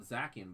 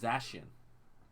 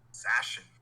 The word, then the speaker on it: Zacian: I call it Zacian, but I think that's not how it's pronounced.